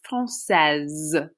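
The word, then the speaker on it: française: would say je suis francaise this e makes you pronounce the s and it kind of sounds like a z franc says if you're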